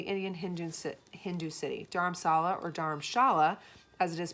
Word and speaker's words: Dharamshala: Dharamsala, or Dharamshala, as it is pronounced in Hindi, means spiritual dwelling, combining the